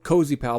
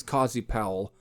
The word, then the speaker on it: Cozy Powell: either at least pronounced cozy pal but i think it's cozy powell him a new keyboard